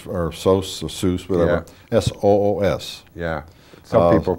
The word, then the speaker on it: Soos: our Zeus and they some people call it sauce but it's s-o-o-s where he was a